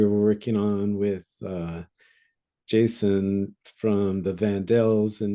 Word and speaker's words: Jsun: up with that name I know it's Jason is your name is spelled JSU n yeah yeah so during